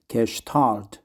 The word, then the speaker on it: Gestalt: therapy or castal therapy I think it's a German word so it should be pronounced kesal therapy reviewed by psychology to